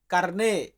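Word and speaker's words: carne: যে মাংস খাই মাংসকে আমরা ইতালিয়ান ভাষাতে বলি কারনে ইতালিয়ান শব্দ কারনে কারনে মানে মাংস মাংস দিয়ে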